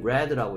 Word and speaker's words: read: 당연히 레드라고 읽어가지고 줘. 왜냐하면 얘는 당연히 몇 번째 녀석이에요? 3번째. 오케이, 당연히 두 번째 녀석이죠. 뭘 보고 알 수 있습니까? 얘가 만약에 첫 번째 녀석이라면, 첫 번째 녀석이라면 당연히 여기 뭐가 써 있어야 돼요? S가 써 있어야 되는 거죠. 그렇죠? 그리고 이거는 이게 없단 얘기는 두 번째 녀석이란 얘기고, she read라고 읽어야 돼요.